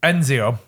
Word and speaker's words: Ezio: protagonist Ezio was introduced he pronounced it right Enzio oh my really came